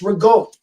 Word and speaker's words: ricotta: It says ricotta on the label. It's ragot.